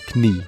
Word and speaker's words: knie: Another example of this can be seen in the Dutch word for knee, knie.